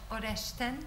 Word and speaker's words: Oreszczyn: Our next speaker is Professor Oreszczyn. I'm told that's how his surname is pronounced, which is as bad as my surname, so I hope he doesn't take offense.